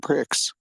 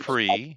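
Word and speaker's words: Prix: in Texas for Modo Grand Pricks that would pronounce pre but cool no no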